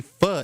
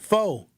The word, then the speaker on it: pho: Fo p h o fo. It's not pronounced fo. It's spelled like that, but it's not pronounced like that. Fu.